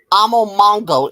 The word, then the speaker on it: Amomongo: And Spears, Amomongo is how you pronounce that word.